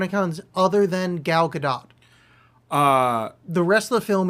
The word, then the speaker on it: Gadot: Oh, it is Gadot. She is Israeli, and you're supposed to pronounce the T.